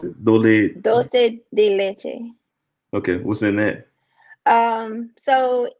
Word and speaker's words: dulce de leche: How you pronounce it? Dole. dulce de leche.